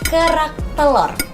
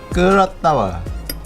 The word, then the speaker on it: kerak telur: Can you say it like kerak telur? Kerak tawa.